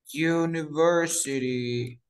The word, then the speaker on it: university: University. University. ¿Cómo se dice? A university o an university. A university. Exacto, se dice a. ¿Por qué a? Porque claramente digo you, you, you.